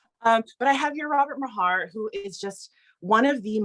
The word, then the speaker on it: Mahar: I was worried that maybe it was like a silent H and it was like Mar, and I've been Bill saying Maher. it wrong. No, it is Mahar.